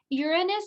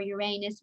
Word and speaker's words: Uranus: saturn has icy rings uranus or uranus people pronounce it different ways this is blue and